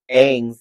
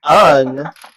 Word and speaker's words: Aang: And then when they kept on pronouncing Aang's name wrong throughout the whole movie, I was just I was louder and louder. It's Aang, not Ung.